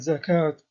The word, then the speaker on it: zakat: In Arabic, both these words have a silent vowel, in that they are not pronounced, indicated by the red arrow.